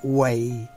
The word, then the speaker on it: Wei: c las reglas de henry white que se escribe w i si está utilizando leche